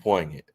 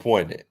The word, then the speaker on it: poignant: It's not going to be poignant. Okay. It's not going to be poant. You don't pronounce the G. It's not going to be poignant.